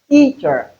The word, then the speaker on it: teacher: For instance, T is pronounced louder than ch. Hence, the accentuation or the stress is on the first syllable.